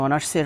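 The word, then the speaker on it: honours: পূর্বে এ বসার কথা, তবে এই শব্দের উচ্চারণটা হনার্স না, এই শব্দের উচ্চারণটা হচ্ছে গিয়ে অনার্স, মানে এখানে এইচের উচ্চারণ মানে কনসোনেন্টের উচ্চারণ ভাওয়েলের মতো হচ্ছে, আর সেজন্য এখানে আমরা এর পরিবর্তে এন ব্যবহার করেছি।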